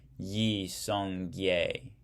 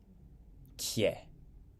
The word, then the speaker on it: Yi Song-gye: In 1392, in the brilliant Korean general Yi Song-gye Kye is how it's pronounced, I guess, set up the Choson dynasty.